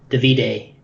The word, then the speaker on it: Davide: he's had a Davide, I think is technically how you say his name, but How you say it? Davide.